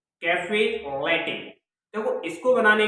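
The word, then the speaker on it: caffè latte: क्योंकि इसका नेम है कैफे लैटे। कैफे लैटे। देखो, इसको बनाने के लिए आपको ब्लैक कॉफी ले, उसमें 3 गुना दूध मिलाएं, स्वाद अनुसार चीनी मिलाएं और आपकी तैयार हो जाएगी कैफे लैटे।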